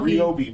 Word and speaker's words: Ryobi: and by the way that is the correct pronunciation yes somehow ryobi not a ryobi the the ryobi company has